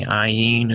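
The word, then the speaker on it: ע: Now we have ayin. Okay, and the ayin is, they've got this transliterated with just a little quotation mark there. It's a silent letter similar to the aleph.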